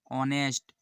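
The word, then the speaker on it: honest: करें pronounce ation correct in शब्द का सही उच्चारण करें इसका क्या होगा thought psychology Island Island ऑनेस्ट इसका क्या हो जाएगा इसका हो जाएगा ऑनेस्ट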